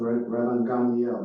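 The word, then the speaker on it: Rabban Gamliel: So the the the application of what Raban Gandiel, that's how you you pronounce his name, said is very intriguing when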